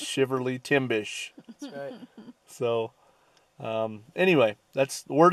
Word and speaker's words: Shiverly Timbish: me timbers hey but apparently it's I've been saying it wrong all these years it's shiver Li Tim bish so anyway that's the